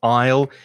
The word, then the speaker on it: isle: not pronounce the s the pronunciation of isle is exactly the same as the contraction with i will i'll exactly the same